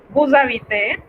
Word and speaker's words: vous habitez: Vous habitez, igual liaison como en el caso anterior.